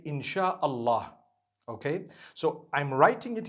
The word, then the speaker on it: insha Allah: s-y-a they pronounce it they pronounce the s y the way we pronounce s h so they can write